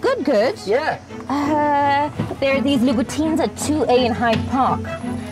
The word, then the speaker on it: Louboutin: Louboutin. Yeah, well, it's French. Even I say it wrong. I know, but you've got to say it like Christian with Louboutin. Swagger.